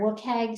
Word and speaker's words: WCAG: uh the wcag standard you'll hear it wookeg sometimes it is the uh